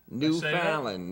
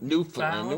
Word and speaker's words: Newfoundland: Newfoundland, not Newfoundland. Where do you think you are? I found in New Jersey. Just say it like quick.